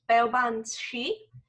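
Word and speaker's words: Baobhan sith: So the creatures in that story are also from Celtic mythology, and I believe it's pronounced Beobanshi.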